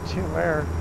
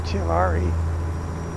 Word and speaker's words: Tulare: It's not Tulare, it's Tulare, California, I believe, or Tulare, Tulare.